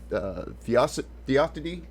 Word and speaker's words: theodicy: The central theological themes that are questions of theodicy, how do you pronounce that word?